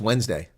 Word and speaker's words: Wednesday: how do you pronounce that Wednesday you don't pronounce it e it's Wednesday it's a trash can not a rubbish bin